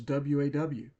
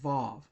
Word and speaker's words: vav: split split as to whether it makes a V sound or W sound. In fact, sometimes it's written as waw. But, it's usually pronounced vav.